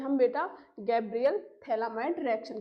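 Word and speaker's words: Phthalimide: थैलामाइड reaction, तो बेटा ये क्या है आपका थैलामाइड, बेटा पी इसमें साइलेंट होते, तो ये क्या है आपका थैला एमाइड, ठीक है, थैलामाइड।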